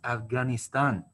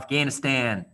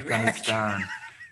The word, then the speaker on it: Afghanistan: And remember, guys, it's pronounced Iraq, and it's pronounced Afghanistan. Not Afghanistan, Iraq. Afghanistan.